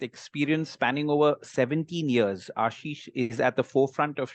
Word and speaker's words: Ashish: a little better so Ashish am I pronouncing your name right Ashish absolutely correct yeah so Ashish currently serving